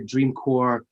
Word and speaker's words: dreamcore: them out it's called dreamcore dot us uh like corpse but obviously uh pronounced core dream core um fascinating fascinating place